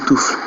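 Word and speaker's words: Toof: Vous allez et bon, Tof, ok, c'est Tof, donc Touf.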